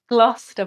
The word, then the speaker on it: Gloucester: Um, Glouester. I mean, I'm probably saying it wrong. Glouester Prison. Glouester Prison.